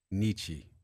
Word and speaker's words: Niche: Nietzsche. Is it Correct.